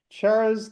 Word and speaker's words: Charas: It's like Charles, but without an L. Charas, Exactly.